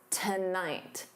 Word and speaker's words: tonight: Still on for tonight. Da. So notice that syllable stress. The first syllable is unstressed. So to becomes that unstressed t. And then night is your stress syllable.